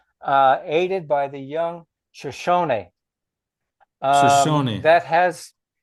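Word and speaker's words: Shoshone: Lewis and Clark expedition aided by the young Shoson guide and translator Sakar Zawia. No um one little minor correction. uh aided by the young Shosony.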